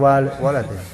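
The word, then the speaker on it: ولد: enggak tapi yang benar ww lam Dal itu bacanya walad kalau misal Antum tambahin Alif setelah wau bacanya Walid artinya orang tua jadi fatal atau itu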